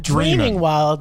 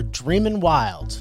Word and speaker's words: Dreamin' Wild: They're not dreaming wild, they're Dreamin' Wild.